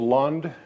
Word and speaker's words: Lundh: back across the sea grandpa knute decided lund without an h was a better name than johnson dad and his brother elof liked the silent h while uncle al figured